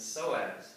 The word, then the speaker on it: psoas: they call it and the psoas which is deeper so as it's spelled p-s-o-a-s